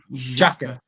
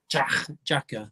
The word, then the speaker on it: Xhaka: Is it Zaka? Xhaka. Xhaka.